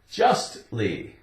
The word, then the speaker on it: justly: Justly. You have the T sound.